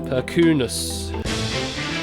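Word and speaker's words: Perkūnas: Catnip is correcting my pronunciation there. Perkunas.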